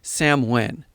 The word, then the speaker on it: Samhain: It was called Samhain, though it's spelled as Samhain.